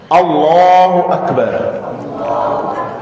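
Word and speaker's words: الله أكبر: یہ جو لفظ اللہ ہے اس کی زبان کو پر پڑھنا ہے، اس کو پڑھتے وقت ہونٹوں کو گول رکھنا ہے، اللہ اکبر۔ ایک تو یہ بات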